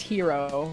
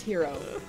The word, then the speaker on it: gyro: gyro in my mouth you know what that's pronounced hero right not white it's it's hero well gee why are all is here oh